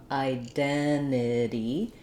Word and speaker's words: identity: The way I've said it so far is that we will drop the first T, identity, and we will use a flap for the second T.